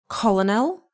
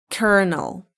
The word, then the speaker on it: colonel: Is it colonel? No, it's kernel.